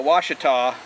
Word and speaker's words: Ouachita: this case we were google one it's uh washita washita which you know i